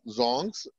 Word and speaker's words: dzongs: Is known for its monasteries, forests, or zongs, not dzongs, D is silent, or zongs and dramatic landscapes that range from subtropical plains to steep mountains and valleys.